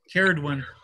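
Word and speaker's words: Ceridwen: Caradwyn.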